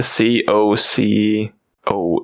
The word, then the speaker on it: cocoa: that a doesn't really because it's usually pronounced Coco it doesn't really make sense there's an a there just yeah so that